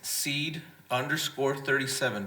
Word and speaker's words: Cede: So seed is pronounced seed, like you plant a seed, like Brother Raymond Rios did, right?